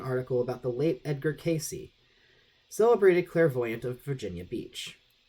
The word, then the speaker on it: Cayce: man in his outfit who pronounced his name Casey and spelled it c-a-y-c-e this turned out to